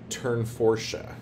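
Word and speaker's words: Tournefortia: we are doing dangling in the turn forche is how you say that so there's that next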